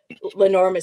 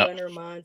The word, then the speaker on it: Lenormand: Oh, Lenormand. Some people pronounce it Yep. Lenormand, some Lenormand.